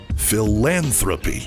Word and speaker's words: philanthropy: The emphasis is on the second syllable. Phil Knight's money. Phil Knight's money. Philanthropy.